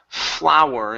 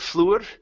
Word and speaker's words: flour: Okay, this word here is pronounced flower instead of fluor. Flower. Flower like a flower? Like a flower. Huh? Like a Yeah. rose? Yeah, this is harina. Harina, yes, it's harina, pero flower, okay, well, Yep. flower. Pronounced exactly the same as like flower. English is crazy.